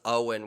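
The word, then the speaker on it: Eoghan: other than that the child's name was owen which i had to look up how to pronounce because it's e-o-g-h-a-n yeah owen makes complete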